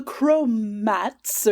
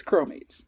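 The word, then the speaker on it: chromates: And I'm sure you might you might say it like the Chromats or something, but it's C H R O M A T E S. And to me that says cromates.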